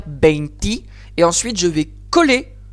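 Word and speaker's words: veinti: Alors, quand on passe au 21, le E final de beinte va s'affaiblir en I. C'est là qu'on va dire beinti.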